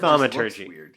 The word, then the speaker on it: thaumaturgy: Thaumaturgy. Yeah, thaumaturgy. Everyone is in consensus. This is how you say it. It's thaumaturgy.